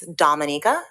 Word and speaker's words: Dominica: my country's name is Dominica we're not Dominican Republic so it's pronounced differently um we are about